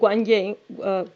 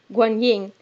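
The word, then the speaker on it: Guanyin: he's stuck waiting for wukong hokum goes to guangyang oh god pronunciation guan ying and the first thing that two of them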